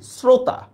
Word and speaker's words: শ্রোতা: Same দেখেন শ্রোতা, শ্রোতা আমরা বলি না, আমরা কি বলি শ্রোতা, আমরা কি উচ্চারণ করি শ্রোতা।